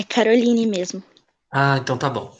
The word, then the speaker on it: Caroline: pronúncia do seu nome é Caroline ou Caroline? É Caroline mesmo.